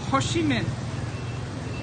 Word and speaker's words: Ho Chi Minh: Ho Chi Minh.